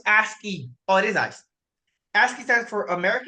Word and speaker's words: ASCII: if I'm being honest with you but it's pronounce aski oh it is ice aski stands for American